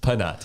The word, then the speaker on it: Phanat: The H is silent.